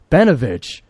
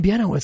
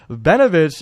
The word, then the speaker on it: Benovic: for this second game it's benovic I've been saying Benoit the whole time I felt so stupid either way benovic ended up coming home